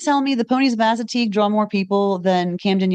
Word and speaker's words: Assateague: It's the this is going to be a dangerous one to pronounce. Assateague Island National Seashore. Oh, Assateague. Okay, Assateague. yeah. See, I was leaning away Sorry. from ass.